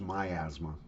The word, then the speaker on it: miasma: bad so it was the miasma theory maybe pronounced my asthma depending on where you live but of course they